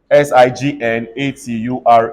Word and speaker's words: signature: are in different relationships s-i-g-n-a-t-u-r-e what happens everybody's sick followed by what nay and chair say signature they have been separated so when they are